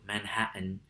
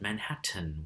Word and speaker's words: Manhattan: glottal stop in speech i have friends from new york city who would pronounce the name of their borough manhattan and would find it a bit unusual or goofy if someone said manhattan with a an actual frontal t sound right that would indicate